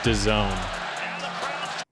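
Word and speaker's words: DAZN: freaking time clip do you know how that's pronounced d a ZN uh da that's Doone oh I just thought that was like such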